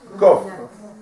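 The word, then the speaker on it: קוף: Mais en vérité, on ne doit pas dire kouf. Comment on doit dire? Kof. La vraie prononciation, c'est kof, on ne dit pas parce que kof, ça veut dire un singe.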